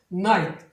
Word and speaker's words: night: 보통 이제 기읍 발음으로 많이 나오는데 여기서는 묵음이 되겠죠. 그래서 night 복모음으로 해줘야 됩니다.